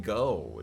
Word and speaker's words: gogh: Um, we're doing we're doing go G O G H or G, but I think I think most people just pronounce this go.